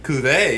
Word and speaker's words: Cuvée: Cuvée, yeah.